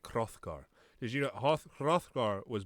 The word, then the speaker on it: Hrothgar: Because we used to, in Old English, we would pronounce things like Hrothgar.